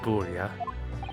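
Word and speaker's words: Burya: And so, at long last, for three weeks, the mystery surrounding the tragic accident on the SS Buria, I was finally laid to rest. I pronounced it right this time.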